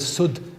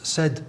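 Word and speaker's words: سد: The word sud is a barrier, and it could be pronounced as said or sud, and they're dictionary-wise exactly the same.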